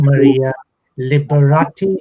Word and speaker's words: Maria Liberati: uh which you can see her name below maria liberati is how you pronounce it yes that was great yeah on